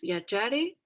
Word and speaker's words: viaggiare: Aquí solo cosita de pronunciación con G y A. Recuerden que se va a pronunciar ya. Entonces, viaggiare.